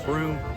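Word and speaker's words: Brüm: So her best friend, her sidekick, is Broom, which is actually a broom, and it's funny because his name is Broom, spelled with an umlaut, B-R-umlaut-M, Broom, hilarious.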